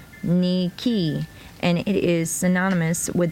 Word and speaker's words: Nike: in book whatever okay Nike he's a Greek word pronounced Nicky and it is synonymous